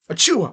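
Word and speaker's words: Achiuwa: A Chua Chua. Bless you. See what I mean when I do that? His name sounds like you're sneezing.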